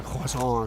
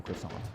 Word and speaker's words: croissant: I did have a coffee, but no croissant. Look at that. Together, we are one man. Croissant. Croissant. We got corrected by our French producer in our ear for overpronouncing croissant.